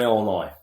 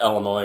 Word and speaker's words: Illinois: know what other option don't pronounce the S it's like here in in uh we're in Illinois yeah it's not Illinois